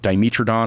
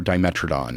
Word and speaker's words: Dimetrodon: But it's spelled the same, but it's like Dimetrodon or Dimetrodon. Okay. It's the same thing.